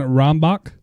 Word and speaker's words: Rombach: Your episode 4 of the Beardcast, CORIN Rombach. I hope I'm saying it right. It's got the H is silent.